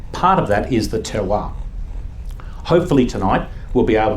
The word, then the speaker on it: terroir: Pronounced terroir. It's a French term, and like some French terms, it doesn't really have a close approximation.